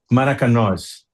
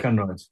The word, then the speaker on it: Maracanós: How do you pronounce it correctly? Is it Maraconas, or how do you say it? Yes, Maracanós. Okay, Maracanós.